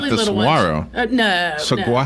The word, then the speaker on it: saguaro: I think the G it might be silent, like lasagna. Like lasagna. It's nothing at all like lasagna. But the G is silent.